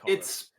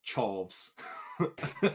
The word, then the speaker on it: Chorus: It is pronounced Chorus. It looks like it's spelt Chorves on the title.